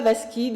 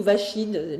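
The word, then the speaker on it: Vaschide: Et il y a un médecin, Nicolas Vasquide ou Vachide, les prononciations sont différentes, qui va travailler beaucoup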